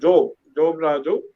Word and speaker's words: Job Raju: My name is Job Raju. If you have to pronounce it Job Raju. Job is from Bible, but I am an atheist.